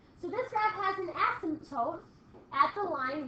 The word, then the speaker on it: asymptote: So this graph has, I'll spell it for you, and it's spelled funny, A-S-Y-M-P-T-O-T-E, asymptote. Sounds like a silent P.